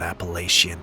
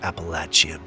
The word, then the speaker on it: Appalachian: The Appalachian Mountains, and by the way, for those of you that don't know, it's not Appalachian. It actually is pronounced Appalachian.